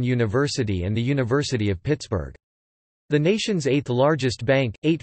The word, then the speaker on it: Pittsburgh: As Forbes was a Scot, he probably pronounced the name Pittsburgh, similar to Edinburgh.